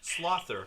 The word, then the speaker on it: sLoather: Slother. Slother. What is Slother? What does that mean? Sloth. Sloth. Why the ER? So, because if it was sLoatherAllen, it would make no sense. But So I put Slother does.